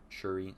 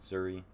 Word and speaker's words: Shuri: really good job as shuri Suri not sure to pronounced that they call her Zuri it's spelled with an sh she did an excellent